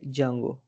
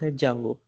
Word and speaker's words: Django: Django pronounced as a Jango I sorry I a Django but that is not called as a Django that is pronounced Jango so our today presentation